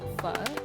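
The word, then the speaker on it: phở: So the first one, pho, it's pronounced pho with that intonation and everything, like with the little squiggly sound in your voice.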